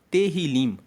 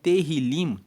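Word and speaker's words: תהילים: A palavra salmos, ela vem no hebraico, na Bíblia hebraica, ela se chama Terrilim. Se escreve T E H I L I M. Então, terilim significa louvores.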